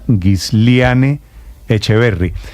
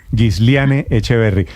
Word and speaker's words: Gisliane Echeverry: Meteorología, es la doctora Gisliane Echeverry. ¿Pronuncié bien su nombre, doctora Echeverry? Buenos días. Buenos días, claro que sí, muy bien. Gisliane Echeverry.